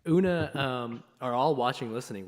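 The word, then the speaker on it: Oonagh: kelly dad cormic oona correct that is the correct pronunciation of that yes o-o-n-a-g-h una una um are all watching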